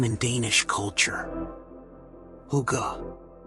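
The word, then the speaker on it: hygge: Huga, pronounced huga.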